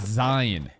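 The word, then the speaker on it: Sein: it e gross okay even though it's pronounced like Zane I got to call it Zion she looks disappointed she's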